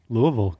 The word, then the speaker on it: Louisville: go Louisville and that's how you say it Louisville yeah in Kentucky and this is of course